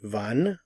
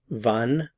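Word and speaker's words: wann: so far we've learned van when vum why vas what notice the pronunciation of the W in all of these three van vas in this lesson we are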